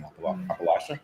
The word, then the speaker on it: Appalachia: have rumors of certain things going on in Appalachia. Appalachia. I'm Canadian. I I apologize. I'm going to butcher that pronunciation. Appalachia.